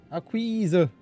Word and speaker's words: Akquise: Betonung auf Akquise. Das I wird lang ausgesprochen. Akquise.